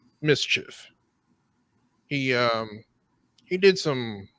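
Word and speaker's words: MSCHF: it's a designer and it's spelled ms chf mischief he um he did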